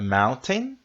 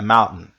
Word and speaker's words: mountain: palavra este substantivo montanha nós temos a Mountain a Mountain com o tezinho e a Mountain a Mountain você vai engolir o t tá a Mountain we